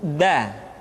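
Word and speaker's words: د: Selanjutnya pengucapan huruf da. Da diucapkan dengan menyentuhkan ujung lidah kita dengan bagian gusi-gusi dua gigi seri bagian atas.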